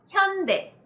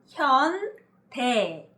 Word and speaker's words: 현대: new S-League, and apparently this is how you pronounce it. 현대, 현대, 현대. Hyundai.